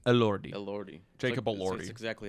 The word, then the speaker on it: Elordi: Jacob, I can't pronounce his last name. Elordi.